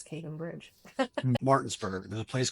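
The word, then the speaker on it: Capon Bridge: Probably gonna say it wrong. Cap'n Bridge. Okay. Yeah. Oh, Cape and Bridge. Cape. Yeah. I knew I'd say it wrong.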